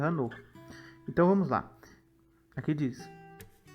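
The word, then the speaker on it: חנוך: Enoque em hebraico se pronuncia Hanor.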